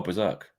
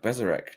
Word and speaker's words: berserk: Oh, Berserk. Berserk. Berserk. I read it as like Bzereek.